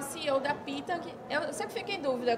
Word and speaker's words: Pitang: Que é o CEO da Pitang. Eu sempre fico em dúvida, como é que pronuncia? Pitang.